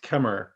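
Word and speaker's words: Khmer: cambodia i've got queen i think it's pronounced kemmer so here we can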